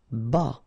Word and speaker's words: bas: Bas. Final S not pronounced.